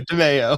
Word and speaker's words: Demao: confused on the Just pronunciation say Nick again. the Italian. DeMeo.